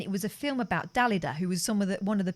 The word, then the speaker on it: Dalida: It's pronounced Dalida. No, it's not.